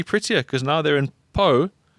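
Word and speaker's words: Pau: P A U Po.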